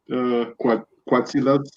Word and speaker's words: Quetzalcoatlus: How do you pronounce that? Quetzalcoatlus.